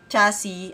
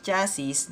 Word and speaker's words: chassis: Dahil, nung nagsisimula ako sa Tamiya Mini Full Drive Racing, chassis ang tawag ko dyan. Kaya lang nadidinig ko sa mga racers, chassis, na mali pala ako.